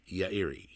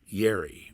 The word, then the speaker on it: Yairi: sadeo and hiroshi uh their last name was yairi or as we call it say in this in the west yerry which is an inter incorrect pronunciation but sadeo